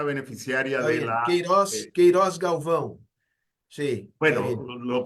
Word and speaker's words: Queiroz Galvão: ley de concesión de Tumarín, se llamaba la Queiroz Galbao. Era la empresa beneficiaria Está de bien, la... Queiroz Galvão. Sí, está bueno, bien. lo pronuncio como lo pronunciamos No, no, en...